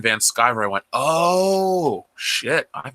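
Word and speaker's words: Van Sciver: I used to think his name was Ethan Van Screer because I couldn't read somehow. So when I heard him say his name was Ethan Van Skyver, I went, oh, shit.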